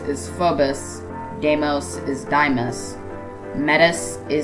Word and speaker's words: Phobos: I'll just correct some, if not all, of the mispronounced names. Thea is Thea. Phobos is Phobus.